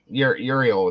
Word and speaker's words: Uriel: Uriel.